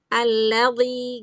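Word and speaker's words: الذي: Jadi kadang-kadang qnya justru bilqo bilqolam bilqolam qo angkat bilqolam yang alladzi itu justru jangan diangkat alladzi ini bunyinya gini alladhi gitu ya kan ladhi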